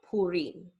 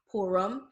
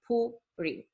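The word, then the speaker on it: פורים: E, as in like Purim, okay? So it's not Purim or Purim. The U is pronounced as U and the I is pronounced as E, so Purim.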